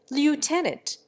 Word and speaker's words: lieutenant: Finally, there is lieutenant. The Englishman pronounces the first syllable left. The American invariably makes it lute.